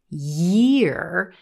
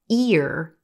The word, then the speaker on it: year: because here's the thing if you're having trouble pronouncing the word year it's likely because you're dropping the YY Y sound and you're going straight into that green te and getting the word ear instead here's the good news